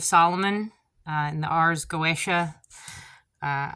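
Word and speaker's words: Goetia: uh in the RS goesa uh I've also heard that pronounced Goa Goa I think it's go I think it's Goa whatever uh feel free to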